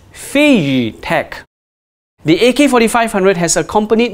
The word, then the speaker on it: FeiyuTech: get this thing right the gimbal manufacturers name is pronounced as phase tech the ak-47 droid has